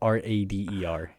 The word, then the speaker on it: Rader: But it's spelled like almost radar. But really? But all right, so it's Rader.